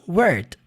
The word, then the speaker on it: word: A primeira é world. Dá uma enfatizada no L lá no final, né? World. E essa, word. É mais seca.